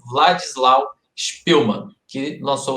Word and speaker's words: Władysław: Eu devo ter pronunciado de uma forma errada aí anteriormente. É Władysław Spielmann, que lançou o livro e a partir disso aconteceu aí o filme.